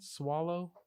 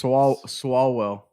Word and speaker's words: Swalwell: How do you pronounce his name again? Swallow? I think it's Swalwell. Swalwell? Yeah. Swalwell.